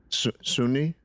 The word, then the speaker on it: Sunni: What? Sunni? Sunni. Yeah. That's how you say it.